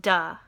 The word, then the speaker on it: the: another one would be the word the is pronounced duh an exam of that